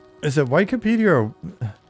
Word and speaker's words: Wikipedia: on is it Wikipedia or Wikipedia German pronunciation the I is before the E so it would sound like an e um I can't remember